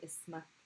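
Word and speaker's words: اسم: Ism is one of those special words, again, similar to ithnain, where it is a hamza sound, but you don't write the hamza. So ism and ithnain, just note for yourself that you're not writing the hamza for those.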